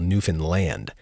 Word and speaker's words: Newfoundland: the rest of us routinely mispronounce as Newfoundland. They're quick to point out, however, that the island is in fact called Newfoundland, and don't you dare say it like that again.